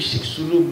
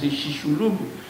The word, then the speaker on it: Chicxulub: Dans une zone qui est écrit Chicxulub, mais en fait, selon données que je prononce Chicxulub, mais c'est le langage par de toute façon.